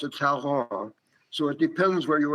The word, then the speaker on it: Talleyrand: Even Talleyrand, sometimes pronounced Talleyrand, even Talleyrand was fascinated by him.